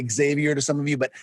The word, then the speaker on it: Xavier: my name will be xavier it's spelled that's how it's a spell but in spanish we say javier and at least where i am from there's other ways to pronounce it but um thank you